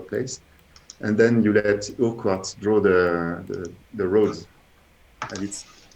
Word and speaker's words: Urquhart: And I just heard from Carrie that it's pronounced Urquhart.